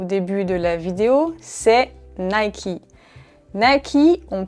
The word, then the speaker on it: Nike: populaire en France que si vous dites à un Français Nike, il ne va pas comprendre du tout qu'il s'agit de cette marque. Au contraire, il va sûrement vous dire que vous avez tort et qu'on prononce cette marque Nike.